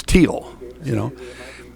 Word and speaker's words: Teal: You look at the girls from Newman, they pronounce spelled the very same way, but they pronounce it Teal. And I didn't think about it. The first time I did a Thiele girl from Newman, I'm pronouncing it Thiele. Gotcha. And their dad came down and said, no, it's Teal, And you've got over